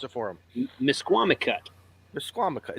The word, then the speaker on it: Misquamicut: And, pronounce it for him. Misquamicut.